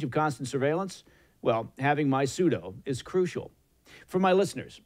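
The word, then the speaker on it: MySudo: and that's my suit it's spelled m y s u d o my pseudo it's an app that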